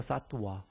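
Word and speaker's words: सत्त्व: 그리고 중생상 잘 아시는 사트바 그 사트 바라고 하고요 바가 발음 상으로 와 발음이에요 사트 와 지바지 와고 그러나 그냥 관습적으로 지화데 지바 이렇게 하겠습니다 영어 스펠 럼 사트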